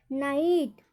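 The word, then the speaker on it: night: नाइट, नाइट में देखिए NIT बस, और GH क्या है, साइलेंट होता है, नाइट।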